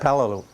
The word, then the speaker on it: Palau: From the 28th of December, 1943 to May 5th, 1944 on Palau, how do you pronounce that? Palau.